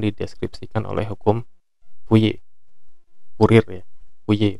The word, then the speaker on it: Fourier: hukumnya itu akan dideskripsikan oleh hukum Fourier ya, Fourier bacanya.